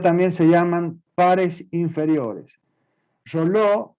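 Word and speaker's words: Reuleaux: Roló, Realeux se escribe, Rea, Leuc, Roló, digo yo, es un investigador que definió y que se denomina el padre de la cinemática, ¿sí?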